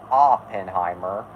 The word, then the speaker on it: Oppenheimer: and yes I am aware that it's actually pronounced Oppenheimer but Oppenheimer just sounds more natural to me